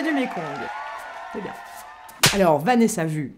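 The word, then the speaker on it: Vanessa Wu: Alors, Vanessa Vu, ça s'écrit W U mais ça se prononce vue.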